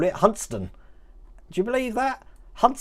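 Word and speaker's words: Hunstanton: over here or as the locals call it huntston do you believe that hunts stanton there is actually pronounced hudson just like uh let me try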